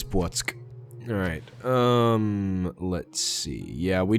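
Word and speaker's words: Płock: Polish pronunciation lesson. That is Płotsk.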